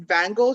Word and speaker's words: Vangel: your business i um it's spelled v-a-n-g-e-l so i pronounced it van gogh shoe so so where